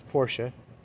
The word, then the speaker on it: Porsche: anyway this beautiful interior here's the Porsche or Porsche whichever you prefer I think the correct pronunciation is Porsche unrestored original this is